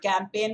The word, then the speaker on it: campaign: of the campaign guys an important word campaign with asylum g the silent g their campaign a few